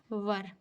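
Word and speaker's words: were: है जो है वास वर इसे कितने लोग वेर बोलते हैं जो बिल्कुल गलत प्रोनंसिएशन है यह वर बोला जाता है क्या पढ़ा जाता है इसको प्रोनाउंस से वर किया जाता है ठीक है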